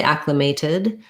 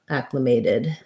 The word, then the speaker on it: acclimated: with secondary stress so this t is going to sound like a flap um so we'll mark it as a t you can say acclimated but most native speakers will say it more like did acclimated um the way i'll rewrite that for you is kind of thinking about like ack may did um i acclimated to